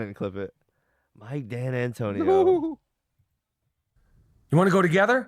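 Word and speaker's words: D'Antoni: it's on the tip of my tongue Mike Dan Antonio yeah Mike Danon right yeah it's Mike dantony yeah Mike Dan Antonio he combined his name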